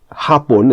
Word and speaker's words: hapon: Hapon is also on the first A, but gabi, the word for evening, the stress is on the I.